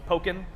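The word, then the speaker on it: Pokkén: How do you Pokken pronounce Tournament, which is Tekken plus Pokemon, so Pokken.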